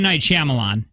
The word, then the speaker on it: Night Shyamalan: night shyamalan she mom I would say I'm night shyamalan oh is that the protect night mm-hmm that's how it's pronounced I'm just gonna go